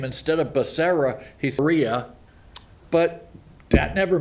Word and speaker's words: Becerra: and welfare or education hugh and then he mispronounced his name instead of becerra he's rhea but that never made the evening